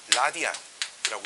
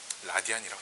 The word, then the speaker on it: rad: 단위는 rad라고 쓰고요. 라디안이라고 읽습니다. 라디안이라고 읽어요.